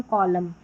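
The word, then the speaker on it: column: तो वहां पर जो है एन साइलेंट रहता है। Autumn कॉलम।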